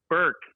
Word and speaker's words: Bourque: It's pronounced Bourque. It's Bourque.